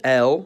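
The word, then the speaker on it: Л: It's called L, and it sounds like L, or L, which to me are literally exactly alike.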